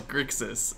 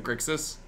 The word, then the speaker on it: Grixis: rubbing rubbing a Delver I also can pronounce grixis I just always choose to pronounce it wrong cuz it rolls off my tongue killing it on the grixis today it just rolls off my tongue easier as GIC than grixis he played wastefully H what